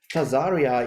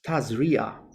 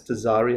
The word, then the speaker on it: Tazria: we are um in torah portion and i've mispronounced it when i did my daily thing it's not tazaria it's tazria but i think it can be trans uh it's pronounced as tezari as well but i think the right one